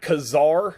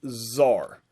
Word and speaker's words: czar: more or less uh it's spelled c-z-a-r like kazaar but it's pronounced zar so i got a